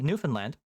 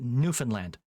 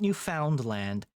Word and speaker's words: Newfoundland: It's not New Found Land and it's not New Finland. It's Newfoundland. You just sort of fall off the F onto the N.